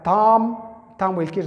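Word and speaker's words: thumb: مخه بیا ام دی، دغه بی نه تلفظ کیږي، دا به دی نه وایه. ګوره څنګه ویل کیږي تام به نه وایه، تامب دا رقم به نه وایه، بی به نه ورسره وایه، تام ویل کیږي دا بټې ګوتې ته تام.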